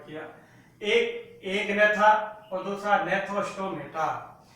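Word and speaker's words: Gnathostomata: Craniata को दो प्रभाग में डिवाइड किया, एक एगनेथा और दूसरा नेथोस्टोमेटा, या जी साइलेंट है स्टूडेंट। एगनेथा, पहला है एगनेथा, ए का मतलब एब्सेंट और नेथा, GNATH, नेथा। नेथा का अर्थ है जबड़े या जा।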